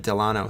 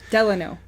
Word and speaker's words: Delano: Because we're going to be staying at Delano, so... Delano. I keep saying it wrong. It's about after the president. That's the only reason I can remember.